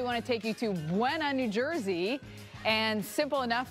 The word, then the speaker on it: Buena: These that are spelled exactly the same, but pronounced entirely different. So spell it out with me here. B-U-E-N-A.